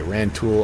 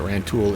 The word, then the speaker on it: Rantoul: Okay, Rantoul. Oh, I mispronounced that. Rantoul, Illinois.